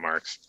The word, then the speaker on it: Marques: Majors out there yeah my name's marks it's spelled slightly differently but I was named